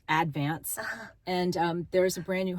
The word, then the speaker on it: Advance: That's how they say it, is Advance. It's not Advance, it's Advance.